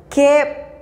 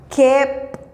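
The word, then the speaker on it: keb': La pronunciación es Hun. Hun. Kep. Kep.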